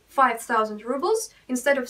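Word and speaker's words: пятьсот: We spell it like this, 500, but actually people pronounce it 500, almost like pizza, 500, 500 рублей.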